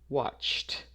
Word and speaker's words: watched: c here and so when you have that cha sound you pronounce this as a t watched watched not watched watched